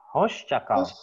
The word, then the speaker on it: hoşça kal: cakal percakapn kaos capai hoscakal hoscokro bagus karena di sini ada Syekh ya bukan pasca tapi host-host cakau hoscakal